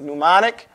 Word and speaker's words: mnemonic: What is it, mnemonic? I don't know how I'm spelling this. It's something like this, mnemonic or something like this. You don't pronounce the M there.